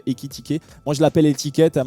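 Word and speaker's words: Ekitike: Équitiquer, pardon, désolé, j'ai mal prononcé son prénom, enfin son nom de famille. D'ailleurs, qui se prononce dans les deux sens, ça se prononce pareil, Équitiqué.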